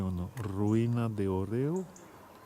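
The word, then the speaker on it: hórreo: a ri nahd et oreo oreo ça s'écrit h aux deux r e au pas comme les gâteaux à regarder c'est envoyer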